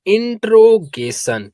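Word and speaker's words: interrogation: अगर आपको नहीं मालूम कि जहां पास डबल वर्ड एक साथ आते हैं तो उसका प्रंसिएशन सिंगल ही होता है। एक ही वर्ड को पढ़ा जाता है। जैसे यहां पास आर डबल बार आया है लेकिन इसका प्रोनंसिएशन सिंगल हुआ है।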